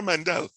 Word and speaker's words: Mendel: unquote father of genetics his name begins with m and it rhymes with zandel he was a monk and his name was gregor yes yeah gregor mandel now oftentimes people say